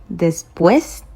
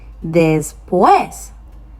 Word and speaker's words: después: Look at where the accent is. It's on the second E. So that means that is what is going to be stressed.